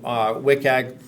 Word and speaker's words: WCAG: WCAG, I pronounce it differently. Some people WCAG, WCAG, whatever. But I'll call it WCAG, Web Content Accessibility Guidelines.